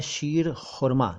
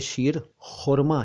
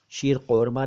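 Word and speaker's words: शीर ख़ुरमा: है ईद पर, उसे शीर खुरमा कहते हैं। खुरमा, कौरमा नहीं, शीर कौरमा नहीं, सीर कौरमा नहीं, बल्कि सही शब्द है शीर और खुरमा, तो बना शीर खुरमा, शीर खुरमा।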